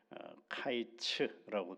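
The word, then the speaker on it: קַיִץ: 그래서 끝과 여름과일 광줄이 하나가 어떻게에 연결이 되느냐라고 할 때 어제 이제 그런 말씀을 드 발음 때문에 그렇다라고 말씀을 드렸죠. 여름과일 한 광주에는 히브리어로는 카이츠라고 돼 있고 끝이라는 말은 캐츠 이렇게 돼 있어요.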